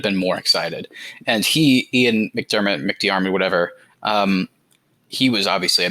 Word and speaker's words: McDiarmid: How do you pronounce this guy's name? Is that his name? McDiarmid. Ian McDermott.